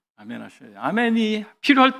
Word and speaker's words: 아멘: 말이 훨씬 히브리어에 가까워요 히브리어는 아멘이 영어는 에이멘 하잖아요 우리가 훨씬 낫습니다 우리 표현이 아멘이 더 정확한 발음이에요 세 번째 몸을 굽혀서